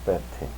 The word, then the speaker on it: fête: But if one says la fête, the party, the vowel is long, as in hey.